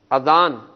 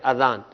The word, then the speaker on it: اذان: یہ بھی بتا دیجئے۔ اذان درست ہے، یعنی الف کے اوپر کھڑا زبر نہیں ہے بلکہ صرف زبر ہے اذان، اذان کہنا چاہیے، درست تلفظ یہ ہے، تو آج سے اس تلفظ کو درست کر لیجئے۔ جی اگلا لفظ دکھائیے